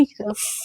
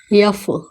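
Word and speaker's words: F: यह यफ नहीं होता है, क्या होता है, एफ। ध्यान दीजिएगा प्रोनाउंसिएशन में कि क्या होता है, यफ, यफ और एफ में क्या है, अंतर है।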